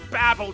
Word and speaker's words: Babel: You're like a real-life Tower of Babel. I believe it's pronounced babble, Chad, which I admit you're doing an awful lot of.